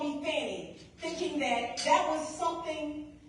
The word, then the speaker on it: Fani: Half the time, the media doesn't pronounce my name correctly because the correct pronunciation is Fani because the name is Swahili.